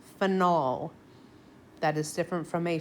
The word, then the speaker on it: phenol: a finel group so I over pronounce the o on purpose I call this phenol that is different from